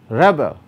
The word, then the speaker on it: rebel: when you say rebel rebel that's a verb now the stress in the above words vary such that nouns and adjectives are stressed on the first syllable while verbs are stressed on the second as indicated by the capital letters on the first syllable for nouns and adjectives and on the second syllable for verbs now this is for